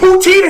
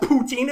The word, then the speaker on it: poutine: That's not even how it's pronounced. It's not pronounced poutine. It's French, so of course it's poutine. But like nobody actually fucking says that unless you're from Quebec.